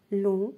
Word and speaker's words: long: Ensuite, la lettre G peut être muette dans certains mots. C'est-à-dire, elle ne se prononce pas. Et voilà les exemples. Doigt, éton, long, son, rond et point.